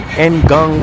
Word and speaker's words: Ngong: I'm on Enong Road. Here they pronounce it Gong Road.